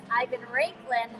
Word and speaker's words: Ivan Raiklin: And I finally get to meet the famous Ivan Raiklin. Heard so much about him. Oh, wow, you pronounced it right.